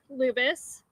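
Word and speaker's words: Lubas: In just a moment, I'm going to introduce you to Brigadier General John Lubis. That's spelled J-O-H-N, Lubis, L-U-B-A-S.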